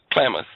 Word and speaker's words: Klamath: surface and groundwater to upper, how do you pronounce that? Klamath ranches and farms? Klamath.